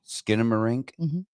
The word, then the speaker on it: Skinamarink: uh how do you say it again skinamarink skinamarink all right this is going to be a